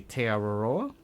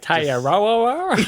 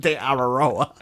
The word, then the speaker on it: Te Araroa: When you hear people say it correctly, you're like, oh, it's so good. Yeah, it's like a fluid, just like almost one word kind of pronunciation.